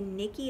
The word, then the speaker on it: Nici: and it's a vintage i think you say nikki it's nici i think it's pronounced nikki and it's a french